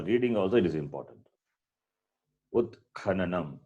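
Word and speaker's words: उत्खननम्: Utkhananam. It's not Utkan. Nowhere it is Nakara. Nanam. It is Nanam. A is there. So Utkhananam only. So you cannot cut the vowel in between.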